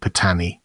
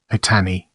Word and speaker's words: Patani: paty Pat Malay Sade patani pronounced as Pon with a very brief first syllable and stress on the second syllable patani the original melee word